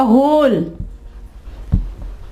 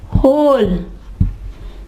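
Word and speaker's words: whole: ठीक है, इसके अलावा होल, होल, ये देखें W साइलेंट हो जाएगा।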